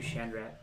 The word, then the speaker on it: Chandrat: Or we could do Chandrat. Chandrat? Rat instead of rot.